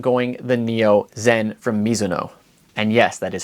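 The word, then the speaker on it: Mizuno: I'm going the Neo Zen from Miso. And yes, that is how you pronounce it. It is a Japanese last name.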